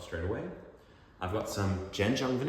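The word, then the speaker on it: Zhenjiang: I've got some Jenjang van. It's often romanized as chinqyang, but it's pronounced jenjang in Mandarin.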